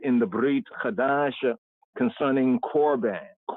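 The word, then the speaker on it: corban: In the Brit Chadashah concerning korban. They spell it in the English as C-O-R-B-A-N. So in the English, it says C-O-R-B-A-N. You can look it up in the KJV Bible. C-O-R-B-A-N, korban, the korban, right?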